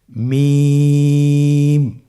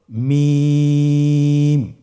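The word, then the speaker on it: ميم: মিম হরফটি উচ্চারণের ক্ষেত্রে অবশ্যই বারিক হবে, পাতলা হবে এবং 3 আলিফ টেনে উচ্চারণ করতে হবে। আমার সাথে আরেকবার চেষ্টা করুন। মিম। আবার বলুন মিম।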